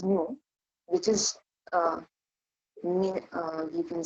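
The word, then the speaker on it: ν: pronounced as mu nu which seems to be v but this is new which is uh you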